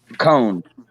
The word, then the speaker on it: Coan: Cone. That's right, Cone. That's right. But it's spelled weird. It's like COAN or something. It's not CONE.